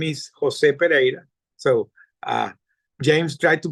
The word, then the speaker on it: Pereira: my name is Jose Pera so uh James tried to pronounce it well but he did his best but my name is Jose pera pera is a Portuguese last name that I'm Venezuelan born